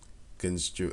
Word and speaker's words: construe: how to spell it construe that didn't I didn't even know how to pronounce it it just sounds like can screw as if you're screwin